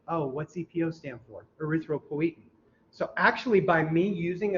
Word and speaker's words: erythropoietin: me, you got to be brave here because pronunciation is tough. What's the name of the hormone that the kidney produces? Very good. Erythropoietin. Erythropoietin.